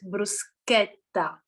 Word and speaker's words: bruschetta: of all Bubba please you have to pronounce it bruschetta otherwise you will lose your Italian DNA immediately Richard way can